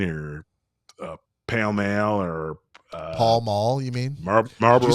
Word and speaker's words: Pall Mall: I know it's Pall Mall. I say Pale Male. You say It's potato? P-A. I say That's potato. it's literally on the box. It's spelled P-A-L-L-M-A-L-L. Pall Mall. I pronounce that Pale Male.